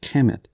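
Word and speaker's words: Kemet: the black land in ancient egyptian it is pronounced chemet they also called the red sands of the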